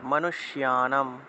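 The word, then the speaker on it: মনুষ্যাণাম্: তাই এখানে দেখুন 51 নম্বর যে মন্ত্রটা আছে মনুষ্যানাম, এখানে দেখুন মূর্ধন্যস্য, মূর্ধন্যের সাথে জফলা আছে, জফলা থাকলে শিও উচ্চারণ হয়, মনুষ্যানাম মনুষ্যানাম। যে মনুষ্যানাম চ, এই যে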